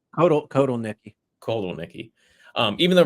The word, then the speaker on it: Kotelnicki: And yes, Andy, how do you pronounce his last name? Kotelnicki, right? Kotelnicki.